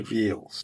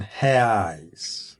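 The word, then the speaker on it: reais: the price of 7,460 res or in the right pronunciation ha in jumia or on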